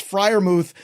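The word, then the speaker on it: Freiermuth: be so mad because not only did he spell Fri moth wrong I can't imagine he's gonna say it right but it's Fri moth Michael May or Everett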